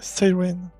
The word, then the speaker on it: Psyren: nom sirène mais oui ça se lit psyè se prononce à l'anglaise Siren il s'agit de la